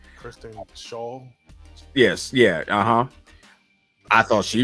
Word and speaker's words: Schaal: Kristen Schaal.